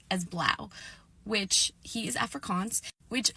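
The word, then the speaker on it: Blaauw: And then his parents come over and even though they're speaking English they pronounce it as Blow. And he said, "Well, yeah, that's the Afrikaans pronunciation of it, but when you're speaking English I think you can just pronounce it in English."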